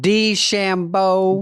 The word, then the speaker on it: DeChambeau: Is that Now, you pronounce the There's hard one O? called Shambo. Did I get that right? Bryson Shambo. DeChambeau.